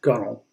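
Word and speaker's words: gunwale: the gull which is spelled g-u-n-w-a-l-e but pronounced gunnel canoes are referred to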